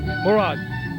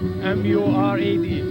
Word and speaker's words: Murad: Murad. How do you pronounce? How do you say that? How do you spell that? M-U-R-A-D.